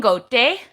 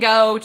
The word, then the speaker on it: Gote: And so their names are pronounced Moli and Gote. Right? Okay. That one's the worst one. And you know what's really funny is that at our competitions, they're always saying like Molly and Goat or something like that.